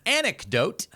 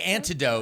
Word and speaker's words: anecdote: And it's pronounced anecdote. I just wanted to It was a great transition. I had to let it go. No. But it's pronounced anecdote. You always say antidote and it It's sense in this